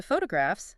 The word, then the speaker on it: photographs: But then you flip to photographs. Now the stress jumps to the first syllable.